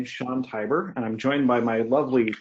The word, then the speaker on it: Tibor: uh Sean Tor tyor Tyber yeah rhymes with tiger nice very well and